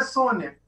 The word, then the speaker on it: Sonja: Que é Sônia, na verdade. É Sônia. Sim, a gente que fala Sonja. Primeiras era Sônia. A pronúncia é Sônia.